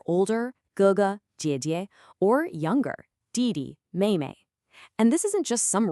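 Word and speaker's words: 妹妹: And finally, younger sister is Maymay. Fourth tone neutral. Maymay.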